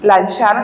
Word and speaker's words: Lanciano: Lanchano, lanciano se escribe lanciano se pronuncia lancha lanchano y y se escribe anciano.